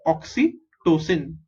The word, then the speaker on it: oxytocin: little difficult to pronounce so oxy is oxy okay oh x y is oxy t o is two c i n is sin oxy tosin okay so the oxytocin hormone